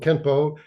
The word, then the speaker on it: Kempo: into Montreal so Kempo in Japanese Shuan is pronounced as Kempo which means law of the Fist and my